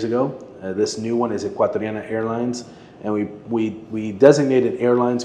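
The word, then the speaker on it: Ecuatoriana: It's Equatrariana.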